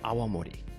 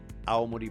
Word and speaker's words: Awamori: our show the UQ alimony alimony aww am oh RI you have to be careful because if you if you don't pronounce it carefully people will think you're talking about all Modi Prefecture I actually I always